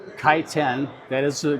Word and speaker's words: Kaiten: well the title of the book is called kiteen that is a correct way to pronounce it in English kiten the meaning of the word kiten in the